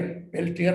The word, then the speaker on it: Peltier: पेल्टियर, पेल्टियर लिखते हैं, PELTIER, पेल्टियर effect. ये इसको आर नहीं पढ़ते, ए पढ़ते, पेल्टियर, पेल्टियर effect, पेल्टियर Peltier effect, effect. पेल्टियर effect, are is silent.